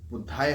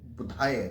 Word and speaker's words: बुधाय: जी का है और इसमें जो बुद्धाय हम बोल उसको थोड़ा सा मैं करेक्ट कर दूं बुधाय बुधाय बुधाय जब मंत्र उच्चारण करेंगे तो मैं दोबारा इस पर जोर इसलिए दे रहा हूं कि कई बार हम मंत्र पढ़ते पढ़ते हम उसको बुद्धाय बोल देते हैं बुद्धाय वह बुद्धाय नहीं है बुधाय है बुधाय ठीक